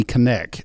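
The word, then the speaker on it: Konneck: this article is that the company connect I think is how you say it k-o-n-n-e-c-k now I believe that's connect is how you say that hey you know if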